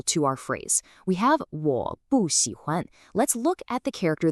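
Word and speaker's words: 我不喜欢: It stays as a fourth tone. So the correct pronunciation is 我不喜欢.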